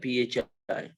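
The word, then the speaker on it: φ: इसको प्रोनाउंस कैसे करने का? phi, phi.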